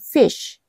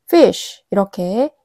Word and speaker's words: fish: 그냥 fish fish 이렇게 이름절로 발음을 해야 되는데 fish이 이렇게 이음절로 발음하게 되는 경향이 있죠.